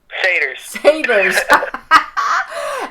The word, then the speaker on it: Satyrs: Pronounce it for me. Satyrs? Satyrs. Yep. Okay, now. Yeah, that Y is tricky.